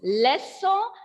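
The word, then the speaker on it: leçon: So I told this lesson is ending with the N, and N is a consonant letter. So here N will be silent and we will pronounce as lesson.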